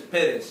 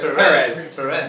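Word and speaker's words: Pérez: In Spanish, it's Perez, right? Yeah. But here it's Perez. Perez, exactly. Yeah, it goes to the other one's the accent's in the first syllable, the other one is on the second syllable.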